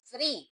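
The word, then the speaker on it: three: So we have here double letters. So it pronounced like a long E.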